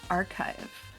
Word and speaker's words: archive: make a note sure it is pronounced archive I will forget hard kick a sound it might be it might be archive but not chive like the vegetables it's archive it's full